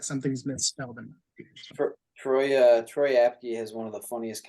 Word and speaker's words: Troy Apke: Martin so don't forget the fast white guy troyaki oh sorry Troy apke yup Tariq Castro Fields uh there's not many